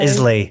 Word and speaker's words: Islay: it's spelled Islay.